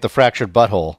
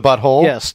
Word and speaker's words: The Fractured But Whole: people are killing me just calling it the fractured but whole yeah when and that's just outright is just a mispronunciation when they tee's this